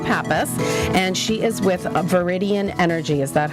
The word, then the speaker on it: Viridian: I'm your host, Nicole Perry, and my guest is Roxanne Pappas, and she is with Viridian Energy.